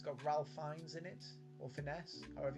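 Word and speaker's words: Ralph Fiennes: it's called the menu with um it's got Ralph finds in it or finesse however you pronounced his name Ray fines Ralph finds the guy who played Voldemort and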